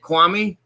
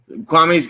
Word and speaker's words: Kwame: on this channel quan is it kwami i want to make sure i pronounce it right give me a nod if that's if i'm pronouncing it right i can't i can't hear your voice yet give me a nod if it's uh kwami i want to make sure i'm pronouncing it right yeah he said yeah okay cool honey brown